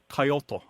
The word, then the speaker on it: coyote: And it is more or less two syllables. The L, I believe, is very liquid, so it's coyote, something like that.